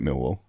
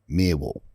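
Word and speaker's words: Millwall: They don't pronounce the L's.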